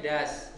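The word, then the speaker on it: does: Kalau do tambahin S bukan dos tapi jadinya das. Do-es bukan dos, ya.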